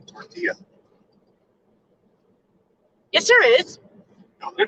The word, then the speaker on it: tortilla: there's no athena missouri guess what there's no l's in tortilla yes there is no